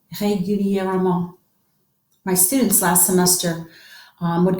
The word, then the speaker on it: régulièrement: This is régulièrement. Isn't that awesome? Régulièrement. 5 syllables. Régulièrement. Régulièrement. Régulièrement.